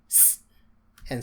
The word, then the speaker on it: ça: That is to make us be able to pronounce this as S. And so we say sa, which means that.